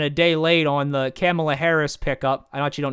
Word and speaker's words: Kamala: How you call it Kamala?